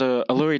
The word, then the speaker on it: Alluri: My name is Alluri. He then gives a slight bow. As he Alluri. Can you spell that? Yep, I will. Sounds like alluring.